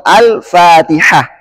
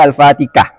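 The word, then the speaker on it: الفاتحة: alamin contoh yang lain Ha bacanya Al hamdu atau al-fatihah enggak boleh al-fatikah ah Nah inilah yang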